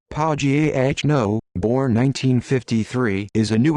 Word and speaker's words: Pagano: daniel pagano pronounced pau g h no born 1953 is a